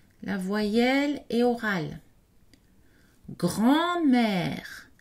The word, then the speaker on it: grand-mère: Grand-mère, le N n'est pas prononcé, la voyelle est nasale.